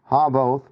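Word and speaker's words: Havvoth: But you can kind of just break it down. Ha both. Right? Kind of makes sense. Havoth.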